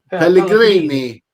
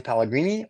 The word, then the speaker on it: Pellegrini: How do you pronounce her last name? Pellegrini.